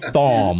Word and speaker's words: Thom: Listen, everybody, to pronounce this guy's name properly, think thong with an M. No. Thom.